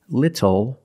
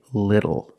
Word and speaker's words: little: When you see T-L-E or T-T-L-E, phonetically the T is between vowels. And for this reason, the T changes to a fast D in American pronunciation. That's why we do not say little, we say little.